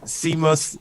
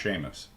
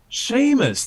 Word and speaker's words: Seamus: of comment one one last one from uh simus sima siebel nothing in the i oh i'm sorry it's pronounced sheamus sheamus the ceo thank you thank you that helps